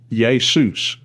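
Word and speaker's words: Ἰησοῦς: In Greek, Jesus is spelled Yota eta sigma omocron oopsilon sigma and pronounced yus very close to the Spanish Jesus.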